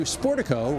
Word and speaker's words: Sportico: media exposure according to sportico rhymes with Portico uh the singer's presence